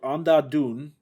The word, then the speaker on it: Andhadhun: have heard of but it's called onda doon i looked up the correct pronunciation and i think i got close to it uh it's an indian